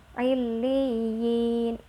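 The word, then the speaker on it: عليين: Sukun contoh pada lafadz ilyin jadi cara bacanya jangan hiley yah tapi ilyin atau how it Um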